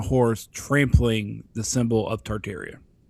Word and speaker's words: Tartaria: Tartaria.